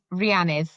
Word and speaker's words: Rhiannydd: It's Rhiannydd. So. like Rhiannon, I guess is quite a common, far more common name, but Rhiann and then ith at the end.